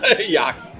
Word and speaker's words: Ajax: It must be because they're in Amsterdam, so that must be the Dutch pronunciation of Ajax. Yeah. Oh yeah. Yeah. Yax. Yeah. Basically Ajax.